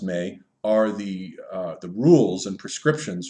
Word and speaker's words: me: The maze, spelled M-E and pronounced May, are the rules and prescriptions for civilization, basically the DNA of civilization.